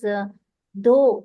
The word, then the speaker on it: though: And words such as though, THOUGH, in that the last GH is silent, right, ma'am?